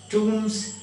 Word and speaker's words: tomb: The mummies were buried like that, and most probably the rock cut tombs, T-O-M-B, B is silent, tomb.